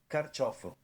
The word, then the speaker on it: Carciofo: Carciofo. Carciofo. So we made like all kinds of extra syllables growing up, and I never knew the proper pronunciation.